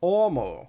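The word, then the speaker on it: homo: at Pharisee he sees omo now omo is a Latin word meaning man and it's it's spelled h-o-m-o but it's pronounced omo you don't actually say the H so what is the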